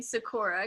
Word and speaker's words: Sikora: And she just chose this last name Sikora because it rhymes with Laura.